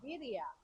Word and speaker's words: birria: a long time and it's viia which we learned which we learned yesterday at a taco truck in Independence California from one of the